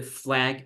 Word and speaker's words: flag: Check how Flag, yeah, when we say flag, sounds like a bit like an EA, right? Flag. black, You know, when you pronounce the other one, it's like ah, right?